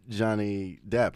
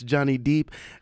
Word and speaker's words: Johnny Depp: a voice message and uh he uh mentions Johnny Depp right but he mispronounces Johnny Depp he says yeah and it's Johnny deep and paruz like you pronounce that perfectly fun fun cultural moments um